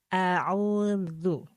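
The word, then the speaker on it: أَعُوذُ: huruf Dal ya Ee huruf Dal ini adalah juga ee tipis karena harakatnya adalah dumah maka untuk membacanya adalah dibuka terlebih dahulu baru di dilepas audu audu ditarik senyum terus dilepas audu coba Kak sayidah auudu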